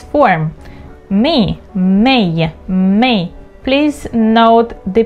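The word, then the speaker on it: mig: May. Please note the pronunciation.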